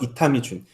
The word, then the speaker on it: 이타미 준: 자를 따서 그걸 합쳐서 이타미 준 그 인자가 1번 발음으로 주니 되요 그래서 이타미 준의 라는 예명을 사용한 예명을